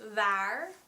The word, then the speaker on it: waar: You put your front teeth on your bottom lip, you use your voice, you use your vocal cords, and try to not use as much air as you would with a V.